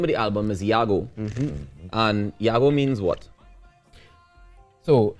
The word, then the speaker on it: Yago: and she said that it wasn't ago it was Yahoo I was a full